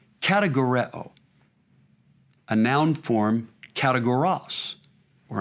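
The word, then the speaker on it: κατηγορέω: It's a word from a root in Greek that would be pronounced kategoreo, a noun form kategoros, or another noun form, categoria.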